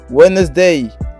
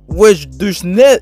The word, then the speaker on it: Wednesday: Sunday, Monday, Tuesday, Wednesday. Ouais. Chapitre 93, rassemblement. On dire wesh de snei ou non, ouais de snei. On prononce pas le D, imbécile.